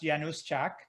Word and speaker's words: Januszczak: a polish heritage yeah my last name is actually pronounced yanuzchak and and it's it's a it's a polish name sure uh you know